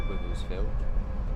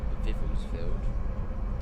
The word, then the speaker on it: Wivelsfield: Okay, straight up, so this went through Wivelsfield, which I hear a lot of people at work calling Vivelsfield, and the other one's Crawley.